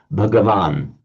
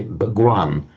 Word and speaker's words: Bhagavan: You lengthen the a and drop that t of the stem, so Bhagavan. And in modern Hindi, they pronounce it dropping this a. They wouldn't pronounce it. They just say Bhagwan, so which is the highly respectful modern Hindi and other languages of, in fact, probably all over India.